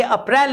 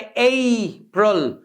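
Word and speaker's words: April: Next, सबसे ज्यादा मिसप्रोनाउंस्ड कोई मंथ नेम अगर है तो वो है ये वाला, इसे लोग बोलते हैं अप्रैल। ये अप्रैल नहीं होता, ये होता है अप्रैल।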